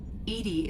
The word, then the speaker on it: EDI: are you named Edie Edie is the phonetic pronunciation of EDI that is an acronym for enhanced defense intelligence